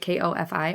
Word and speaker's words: Ko-fi: And, um, she also has a Ko-fi or coffee. I don't know how you say it, k o f i. I say Ko-fi.